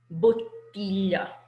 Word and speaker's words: bottiglia: So this word in Italian is bottiglia.